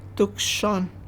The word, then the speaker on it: Tucson: tuon is an Indian name Tuan is the correct way to say it me in Black moan